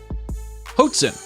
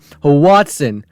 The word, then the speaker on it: Hoatzin: By the way, this bird is called Hoatzin, whatever you want to call it, not Hoatzin, like you pronounced it.